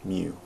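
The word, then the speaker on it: μ: or looks like a little weird you it's pronounced mu so it's referring to an entire population so x-bar is the what's called the average for sample and mu is the average for a population and it's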